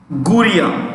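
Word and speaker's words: Gurría: J की जगह H pronounce होता है. Jose Angel. ANGEL. Angel. Jose Angel Guria.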